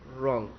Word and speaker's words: wrong: रॉन्ग, रॉन्ग यानी गलत, रॉन्ग, WRONG, रॉन्ग यानी कि गलत, तो रॉन्ग जो है तो W साइलेंट है, तो हम क्या बोलेंगे, रॉन्ग।